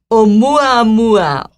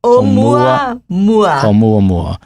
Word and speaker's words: Oumuamua: Oumuamua. Oumuamua. Oumuamua.